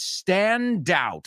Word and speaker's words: stand out: It's, cuidado con esa E delante. It's stand out. Y la D va con el out.